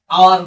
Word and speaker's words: hour: আচ্ছা, এখন যে কোনো আমরা ঘন্টাকে আওয়ার বলি, এইচ ও ইউ আর, এইচ এর যে উচ্চারণটা এইটা উজ্জ থাকে, ইংরেজিতে যেটাকে সাইলেন্ট বলা হয়, সাইলেন্ট ওয়ার্ড।